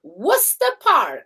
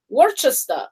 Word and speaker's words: Worcester Park: do you pronounce it worcester no it's called worcester park that's how brits say is in worcester park yeah but know what that has to do with alcoholism around london so you'd read every normal person worchester that's how they would do it but they